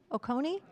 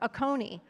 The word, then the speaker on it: Oconee: have to tell me how to pronounce that lower Oh Connie Oconee thank you I've been mispronouncing this across the country everywhere a Coney and I hate to